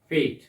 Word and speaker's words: fete: मेला एक हिंदी वर्ड है, इसका आप इंग्लिश वर्ड यूज कर सकते हैं फेट, FETE, और फैट भी हम प्रोनाउंस करते हैं.